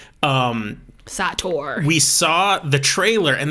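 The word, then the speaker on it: Sator: saw the trailer so the movie is called seder s-a-t-o-r it's called satyr i wasn't trying to pronounce until that's how they said it in the movie um satour we saw the trailer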